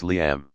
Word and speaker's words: Liam: i said hi liam as in lee um or lee imm and she chipped its liam like life and am liam why i see